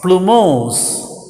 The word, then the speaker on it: plumose: of a stigma is plumose actually that spelling blue p l u blue but we have to pronounce it as flu plumose now plumose means a